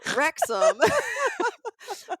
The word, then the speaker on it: Wrexham: So Wrexham, Wrexham spelled Wrexham, is Oh, actually a town in Wales. I would have And totally failed that spelling bee yes, question. Oh, it doesn't necessarily, it's not spelled like it sounds.